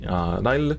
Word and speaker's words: Lyle: And then of course we play 4 copies of the Lyle. I remember looking up the Japanese pronunciation of her name and then I always forget. So it's not Lyle, I think it's Lail.